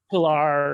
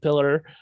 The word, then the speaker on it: Piller: producers and i remember she mispronounced michael piller's name which was so embarrassing pilar or something like that instead of pillar and but what was